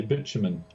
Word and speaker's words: bitumen: and gomorrah was um the the bittman the bitumen pits how do you pronounce that uh in english we say bitumen okay so um now i know this is